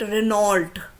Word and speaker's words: Renault: Okay, then Renault, most of us call it Renault.